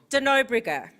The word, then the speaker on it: de Nobrega: i say your surname wrong how is it pronounced de nobrigger okay i prefer because of cross critical cross-field